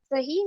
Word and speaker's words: सही: सही में सही का उच्चारण लंबा खींचा जाता है।